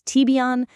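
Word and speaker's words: Tibyan: First, the TB Yan platform. Again, that's TBON.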